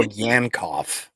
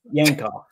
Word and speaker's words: Yankoff: We'll go Yankoff. Yankoff.